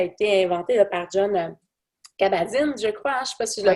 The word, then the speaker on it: Kabat-Zinn: hein, ça a été inventé là, par John Kabat-Zinn, je crois, hein, je ne sais pas si je le Ouais, prononce bien. c'est ça, Kabat-Zinn, ouais.